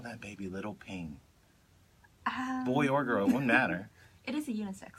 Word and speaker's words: Phing: so great they would call that baby little ping boy or girl one matter it is a unisex name yeah it's spelled pH ing which when I first read